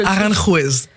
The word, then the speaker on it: Aranjuez: Ça s'appelle le concerto, mais moi je prononce très mal l'espagnol. Je préfère que Aranjuez.